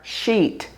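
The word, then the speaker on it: Scheat: Because at 6° is the fixed star sheet and that is spelled s c h e a t.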